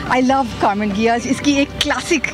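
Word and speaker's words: Karmann Ghia: let's by वन भाई इसका pronounce एशन है कौन गया करके क्योंकि ये बेसिकली जर्मन की है और इसको सबसे पहले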